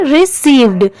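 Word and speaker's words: received: बट यहां पर last में डी दिया हुआ है। इसलिए इसे हम क्या प्रोनाउंस करेंगे? रिसीव्ड। जैसे मैं आपको हर वीडियो में बताती हूं कि कोई भी वर्ड के लास्ट में अगर डी हो तो वहां पर ड की साउंड जरूर आती है।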